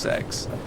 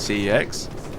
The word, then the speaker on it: CEX: Um but uh they have so first of all, the the shop is pronounced sex. I always used to call it CEX um because it was an acronym for um uh complete no uh computer exchange really.